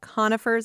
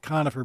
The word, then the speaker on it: conifer: to the next degree, it's not conifer, but it's conifer. Um, so it's it's more of a long O. At least some of my conifer, excuse me, conifer friends pronounce it that way.